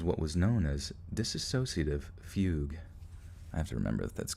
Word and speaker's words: fugue: let's see disassociative fee i think it's fugue this wait diss track associative fugue how do you say it though how you say it google google fugue is pronounced correct okay all right once